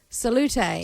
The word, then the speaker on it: Salut: Is it just Oh, she's she's written it out phonetically for me. Salut. Salut.